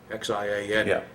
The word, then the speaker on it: Xi'an: The one that I do remember is a place called Xi'an, Xian, which, by the way, in China is pronounced Xi'an, because I've been there too.